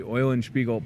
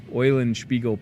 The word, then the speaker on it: Eulenspiegel: Thanks to Monica Leo with the Eulenspiegel Puppet Theater. At least I didn't say it wrong. How about that for a Monday? I've said it right all the times. Eulenspiegel Puppet Theater.